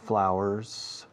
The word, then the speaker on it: flour: There's less flour, escrito flour, pero se pronuncia flower, como una hora, hour. Quitas la H de hour y pones FL delante, tienes flour.